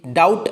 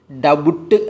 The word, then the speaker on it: doubt: DOUBT, ഡൗട്ട് എന്നാണ് ഉച്ചാരണം, ഡബുട്ട് എന്നല്ല.